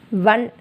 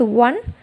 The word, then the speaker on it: one: Because the word one we have to pronounce one, not one. The correct pronunciation is one. Okay, here one means W. W is the consonant sound, right? So we have to use the article a before the word one, because the sound is one, not one.